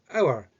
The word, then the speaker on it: hour: how you're saying it hour so the H in fact is silent so when you're saying